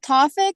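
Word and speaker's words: Tawfik: counselor what did you give me a correct pronunciation of your last name it's toffic t a wfi k f i good morning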